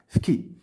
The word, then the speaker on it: Fqih: Fqih, هادي ولكن كتنطق Fki.